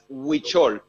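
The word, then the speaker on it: Huichol: but a word known in the world as witchol um it's spelled o h-u-i-c-h-o-l and the the tradition of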